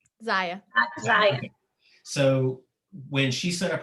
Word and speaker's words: Zyia: when she put her is it zaya or zia how do you say it zaya so when she set